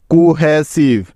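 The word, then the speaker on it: cohesive: তোমরা অনেকেই ভুল করো শব্দের শেষে ভি এবং ই বর্ণ দুটি একসাথে থাকলে তার উচ্চারণ সবসময় শুধু ভ এর মত হয় মনে থাকবে তো কারণ শব্দের শেষে ই বর্ণটা কখনোই উচ্চারণ হয় না এই কথাটা অবশ্যই অবশ্যই মনে রাখতে হবে ঠিক আছে সুতরাং এস আই ভি ই মিলে হলো সিফ কোহেসিভ কোহেসিভ অর্থ হলো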